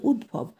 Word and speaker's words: উদ্ভব: দয় ভয় ব উদ্ভব, উচ্চারণটা হবে উদ্ভব, ত্বক, গাত্র, মহাত্মা, নিত্য, রত্ন, দ্বিতীয়, ভাদ্র, উদ্ভব।